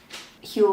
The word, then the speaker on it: Huel: than consume this frankly heal rhymes with gruel for a reason guys